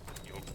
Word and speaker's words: Jotun: You know, just Odin rocks, Odin blood, Jotun blood, Jotun blood, whatever's.